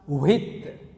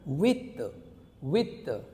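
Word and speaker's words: huit: Because in French language H is silent. Alright, so generally students pronounce with, that is wrong. Alright, so H sound is silent in French, so we pronounce from here with.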